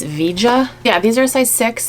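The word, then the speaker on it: Veja: of excited about these i had to look up how to pronounce the brand v-e-j-a and i just looked it up and it's vija yeah these are size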